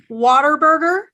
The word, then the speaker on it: Whataburger: those of you who were watching that it's Whataburger not Whataburger that's just their legal entity name